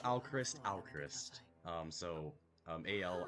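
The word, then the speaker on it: Alcryst: Alchrist. Um, so, um, al C R Y S Tris, you know, Christ as in Crystal or Al as in now.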